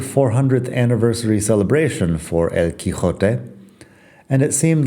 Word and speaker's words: Quijote: The current spelling is Quixote, Quijote.